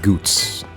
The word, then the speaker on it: Goetz: Clive said Goots.